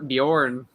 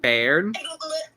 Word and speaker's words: Beorn: Isn't it Bairn? No. It's pronounced Bjorn. It's not spelled how Bjorn is usually spelled. Like Bjorn is usually spelled like BJORN. Yeah. It's spelled like BEORN. So it's Bjorn.